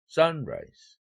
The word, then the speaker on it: sunrise: 그럴 때 당연히 액센트는 합성명사 액센트를 적용하니까 1, 3이죠. sunrise 이렇게 발음돼야 되죠.